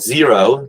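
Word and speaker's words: Xero: quip books online and zero zero spelled with an X like x-ray x e r o those are the two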